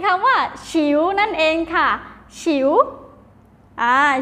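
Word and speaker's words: 球: อ่า ไม่ มี นะ คะ มี คำ ว่า ฉิว นั่น เอง ค่ะ ฉิว อ่า ฉิว แปล ว่า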